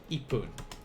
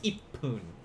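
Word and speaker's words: 一分: with number one it's going to be ipoon whenever there is a one in the minute you're going to use ipoon regardless of what it is for two uh pretty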